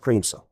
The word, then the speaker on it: Kramiso: Kramiso is pronounced Creamso.